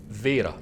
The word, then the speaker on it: Wera: Welcome to a serious episode on the occasion of our workshop opening, Were International Company pronounced (vera) in German they sent me a big cake, Wera + workshop?